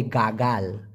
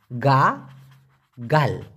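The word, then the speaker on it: gagal: হবে সেই ক্ষেত্রে হবে গাগাল গা গাল উচ্চারণটা হবে গা গাল গাগাল মানে কি ফেল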